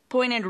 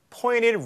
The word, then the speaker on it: pointed: Pointed roofs are Pointed roofs. Pointed. 자, 북미 영어를 구사하신 성우분이라서 N 다음에 T가 완전히 N 소리에 동화돼서 T가 발음이 아예 안 되는 거죠. 그래서 pointed 하지 않고 그냥 pointed. pointed roof.